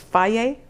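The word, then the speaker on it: Fage: I like to use one called F-A-G-E. I think it's pronounced Faye, 2% yogurt.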